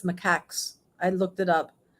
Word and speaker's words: macaques: 13 long-tail, I've learned how to say this, macaques, the monkeys. I thought they were macaws or something, but it's macaques.